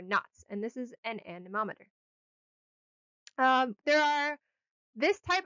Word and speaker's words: anemometer: an a nemo meter so if it's easier to remember a nemo meter a nemo meter and that is how i remember it because that's how i remember to spell it a nemo meter it's actually an anemometer but a nemo meter works okay and with the